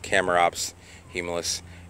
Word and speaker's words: Chamaerops humilis: of shamrocks Hema humilis R should be pronounced camera ops he Milus variation Sarah Sarah which